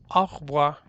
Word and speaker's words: au revoir: Ahí tú lo puedes ver que dice au revoir, pero lo pronuncias au revoir, como nos volvemos a ver luego.